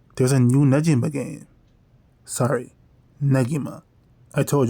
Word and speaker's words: Negima: So, this is me officially stating that from now on, I will be calling this series Negima, and the main character Negi, even though it sounds so weird to me.